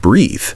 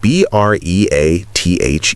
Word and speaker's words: breath: Breath without the e at the end is pronounced with a short vowel sound breath like the word health or death.